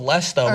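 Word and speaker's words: Leicester: their wheels it's like leester L like they'll just try and pronounce every little syllable of it sure I've done that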